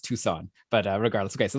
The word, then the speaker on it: Tucson: think the c is i think the c is silent it's like a soft c yeah it's tucson okay uh so st